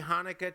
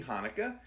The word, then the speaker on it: Hanukkah: do wish them happy hanukkah um you pronounce it with a lot of phlegm there there are some